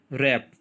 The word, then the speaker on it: wrap: Next word is more, MORE, मोर, मोर में E letter silent है. रैप, WRAP, उसके अंदर W साइलेंट है.